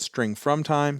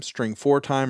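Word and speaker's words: strftime: You can either pronounce that string from time, string for time, or string formatted time.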